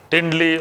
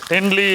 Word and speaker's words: Tendli: So that's when you need to add the Tindli or the Ivy Gourd as it is known.